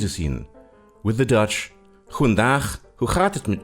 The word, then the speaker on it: goedendag: With the Dutch, goedendag, hoe gaat het met u? You see, the G in Dutch is pronounced ch, and Dutch has lots of chs.